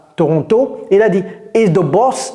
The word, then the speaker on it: Toronto: Ce n'est pas Toronto. Ici on n pas besoin du thé. C'est Toronto. Toronto.